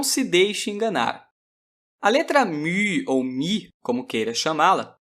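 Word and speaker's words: μῦ: Eu sei que esse U é um pouco difícil de pronunciar, mas não lhe custa nada tentar. μ. μ. Caso tenha sentido alguma dificuldade, saiba que até os romanos, ao absorverem o Y grego, não o conseguiam pronunciar corretamente. Mais tarde, eu lhe darei algumas dicas que o ajudarão a fazer o famoso biquinho.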